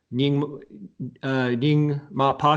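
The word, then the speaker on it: Nyingmapa: Dzogchen master Padmasambhava, who is associated with the Nyingma Pa tradition, if I'm pronouncing that correctly.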